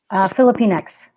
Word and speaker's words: Filipinx: Sorry, is that pronounced correctly? Filipinx.